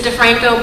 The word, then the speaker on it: DeFranco: It's actually pronounced DeFranco, but you don't need to